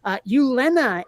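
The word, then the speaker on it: Gyllene: Ulena is spelled Gyllne, Ulena, Okay.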